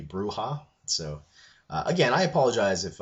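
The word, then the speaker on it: Brujah: The Bruja, as I pronounced them, I was told that it should be Bruja.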